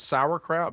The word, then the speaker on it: sauerkraut: We say it's sauerkraut, but it's not spelled that way.